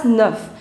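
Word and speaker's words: neuf: We pronounce it as nerf.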